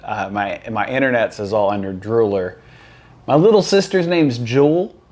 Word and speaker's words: drewlr: Everyone says Drew. That's what I said for a while. It was meant to be Drooler.